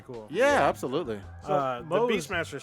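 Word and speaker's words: Moze: I think you pronounce it Mose. Yeah, Mose.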